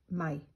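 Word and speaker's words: 米: pronoun pronunciation of it in Mandarin is like my which people in Taiwan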